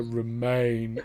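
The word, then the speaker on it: Romijn: i'm consistent um rebecca romain the way i remember it is i think of romaine lettuce which is spelt with an a r-o-m-a-i-n-e yeah yeah yeah okay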